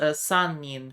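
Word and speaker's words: 三人: Uh and then hito the kanji for person uh that can also be pronounced nin. So I believe this is sanin for three people.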